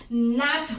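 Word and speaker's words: gnat: लोग पिस्सू बोलते हैं इसकी प्रोनंसिएशन फ्रेंड्स नट होती है क्योंकि हमें पता है कि जी before N then ji is silent हमें पता है सो इसकी प्रोनंसिएशन हम लोग नाट करते हैं ये देखो फ्रेंड्स ये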